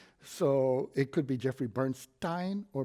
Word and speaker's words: Bernstein: even though it's (foreign language), so it could be Jeffrey Bernst-ahyn or Bernst-een, but how do you pronounce it? - I pronounce it, Bernsteen because my relatives from Belarus pronounced it Bernsteen.